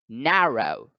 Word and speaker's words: narrow: is narrow narrow narrow here the comma symbolizes the break in between syllables so na is one syllable and rho is another however you find that again the apostrophe is now over the first syllable so the first syllable must be accented narrow is the pronunciation narrow next the word is create